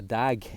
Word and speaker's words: dag: He's got a little pistol shot from a little Scottish pistol that was worn on the holster called a dag, pronounced D-A-A-G, and it was a little pistol that was used in Scotland through the 16, 17 and 1800s.